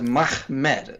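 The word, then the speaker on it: מחמד: The first letter is a mem, and the second letter is a mem. Last letter is a dalet. So you just pronounce those letters Mahmed.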